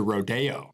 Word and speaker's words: Rodeo: I like to pronounce it Rodeo.